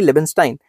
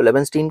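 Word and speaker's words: Leibenstein: Professor Harvey लेबनस्टाइन हैज, कुछ लोग इसको लेबनस्टाइन कहते हैं, कुछ लोग इसको लेबनस्टीन कहते हैं, तो प्रोनाउंसिएशन में फर्क है, बंदा तो सेम ही है ना।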